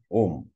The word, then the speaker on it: Om: you put them together when you combine the alphabets ER and O you get o well therefore it is om it is one syllable om extend further and